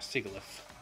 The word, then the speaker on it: Sigilyph: And Sigilyph. Or Sigilyph. Some pronounce it Sigil, or, you know, Sigil. Some say Sigil.